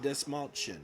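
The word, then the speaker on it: Dastmalchian: David Dastmalchain, right?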